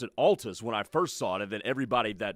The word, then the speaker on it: Altus: Drake Ty just texted me and said Altus is the correct pronunciation.